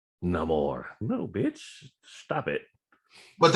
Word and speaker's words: Namor: Namor, because listen, all you motherfuckers who keep calling him Namor. Namor. He is a pre-established character. I don't give a fuck how dude pronounced the name on the movie.